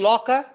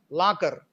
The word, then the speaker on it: locker: And the final R is weak, and So you have to, but in the English, in the Telugu way of speaking or pronouncing this word is locker, la. We make it strong, but it should be rounded.